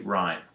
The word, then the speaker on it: rhyme: RH is just pronounced like an R, so this would be rhyme.